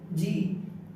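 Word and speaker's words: G: জি, জি, জির পরে যদি আই ই আই থাকে তাহলে আমরা জির যা উচ্চারিত যা। বাকি সব ক্ষেত্রে গ উচ্চারিত হবে, ঠিক আছে? এখানে জ আর বাকিতে ঘ।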